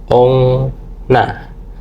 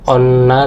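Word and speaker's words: おんな: Nah, di sini ada contoh yang paling bawah itu ada ong na bukan onna tapi ongna ongna itu semua kayak gitu ya.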